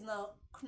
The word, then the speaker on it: know: w is useless there so the K in k n o is silent the word is pronounced as no no are we together